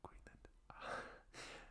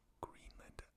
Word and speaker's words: Greenland: You don't want to get caught up in the invasion of Greenland.